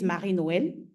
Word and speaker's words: Marie Noël: So I'm Marie Noël. So Brian tried to pronounce, so it's a French name. So I'm going to say it as we say it here. My name is Marie Noël.